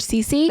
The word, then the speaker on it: SISICC: Some people say sissy, which like I understand phonetically, that would make sense, but it's average CC.